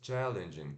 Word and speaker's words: challenging: Então, como se fosse challenging, challenging, mas se pronuncia assim, ó, apóstrofo, indicando que essa é a sílaba tônica, T, sh, de abacaxi, né? Então, o T e o som do sh fica chi, chi, igual quando a gente espirra, né? Achim, ó, chi, chi. Ou quando a gente vai falar tia, tio, né?